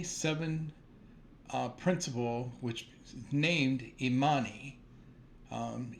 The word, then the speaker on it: Imani: with the day seven uh principal which named immani um immani can be named on some of our um sisters it is spelled i m a n i and in